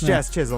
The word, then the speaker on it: Chisholm: Jazz Chisholm Jr. at plus 1,000. It's Jazz Chisholm. It's Jazz Chisholm. Who the hell spells their last name like that? Why would you do CHISM?